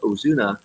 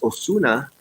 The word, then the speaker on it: Osuna: my name sounds Japanese if it's pronounced Ozuna in Spanish is Osuna but but I beat